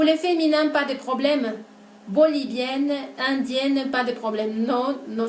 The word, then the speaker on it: bolivien: de pronunciación, comentarles que la siguiente combinación de letras I e N va a producir el sonido vocálico nasal 1, oui. Donc, on va prononcer 1 pour les masculins, bolivien, indien, péruvien, italien, brésilien, chilien, algérien et tunisien. Ese sonido de E nasal se va a hacer presente en el masculino, ¿okay?